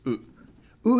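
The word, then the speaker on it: う: have how to pronounce u is pronounced like in other words it sounds just like uh in Uno the card game or the number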